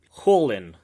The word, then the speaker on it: Kholin: It was Kholin. Oh, yes. Holin. Yeah. Anytime you see like KH, it's actually like this h sound that we don't really have in English.